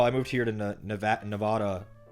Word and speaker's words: Nevada: plate or Nevada plate the actual locals always make fun of me when I say Nevada it's Nevada like ad I believe not a nada I'm pretty sure anyway I'm pretty sure